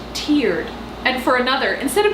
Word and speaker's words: Terde: this time that's bougie turd Sid Ava reading off the map your turn to sit food for one thing it's pronounced tiered and for another instead